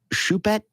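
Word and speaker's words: Choupette: Gala and that is the cat's name is shet c h o u p tte didn't know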